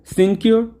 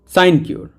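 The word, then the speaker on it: sinecure: সাইনকিওর। সাইনকিওর এর সঠিক উচ্চারণ সিন মতো না, সাইনকিওর।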